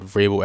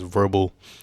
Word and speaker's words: Vrabel: Even Tiffany Haddish early in the year said Vrabel as verbal.